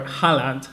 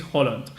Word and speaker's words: Haaland: to sign Erling Haaland, or Haaland, however it's pronounced. I think it's Holland.